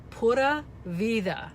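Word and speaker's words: pura vida: way Camille it's it's puta Vida my husband told me the D is a th so put a visa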